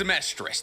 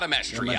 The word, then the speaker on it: Amestris: Just realize it's Amestris, not Amestria. I've been saying it wrong this entire time.